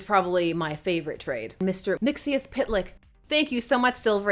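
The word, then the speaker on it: Mxyzptlk: It's Mix. Yes. Spit. Lick.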